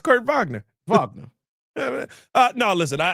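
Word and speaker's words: Kurt Wagner: Cuz like when you know you're speaking to people who speak German, you say the W as a V.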